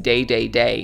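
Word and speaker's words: Dedede: in love with him King ddd's name is pronounced day day day in Japanese and the smash crowd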